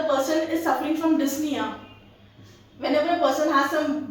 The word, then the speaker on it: dyspnea: Now, over here, this word p is silent. When you pronounce this word, you would say dyspnea. What are you going to say? You're going to say dyspnea.